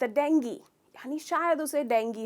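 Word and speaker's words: dengue: डेंगू या dinghy? इसको हमने डॉक्टर्स के तरफ से भी डेंगू बोलते हुए सुना है, डॉक्टर्स को भी, पर अफसोस इसका करेक्ट प्रोनाउंसिएशन है डेंगी। तो ग्यू नहीं है, ई साउंड है।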